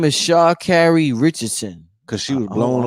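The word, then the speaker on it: Sha'Carri: Yeah, her name is Shaw Carrie Richardson. Because she was blowing on some herb. I'm saying it right. Shaw Carrie.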